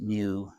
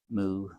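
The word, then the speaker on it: μ: If they use this letter, it's a Greek letter, and it's pronounced mu, mu, mu. That's the Greek letter mu.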